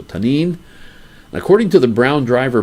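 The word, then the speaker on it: tannin: is the word tanin t-a-n-n-i-n and the eye is like a long e so tane according to the brown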